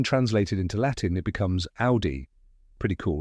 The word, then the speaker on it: Audi: do you say it the correct pronunciation is Audi rhyming with howy let's break it down step by